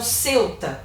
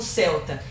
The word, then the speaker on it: Ceuta: um outro território então Ceuta que alguns pronunciam como Celta e melila são dois